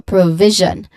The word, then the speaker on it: provision: The second syllable is viz viz where there is no yeah there is a buzzing sound. Okay. So, provision and uh that's the last syllable.